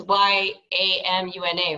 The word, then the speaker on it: Yamuna: It's Y-A-M-U-N-A, right? Yamina? Like the river in India, Yamuna.